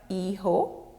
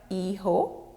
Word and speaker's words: hijo: Son, el hijo. Daughter, la hija. Remember, the H is silent in Spanish. The J is pronounced as H.